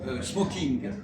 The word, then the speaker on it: smoking: ça s'écrit ING, mais il n'y a pas de diphtongue. Il se passe smokin.